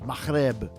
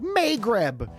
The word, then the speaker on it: Maghreb: sound of North Africa, which in Arabic is Maghreb, and we white folk would say something like Maghreb.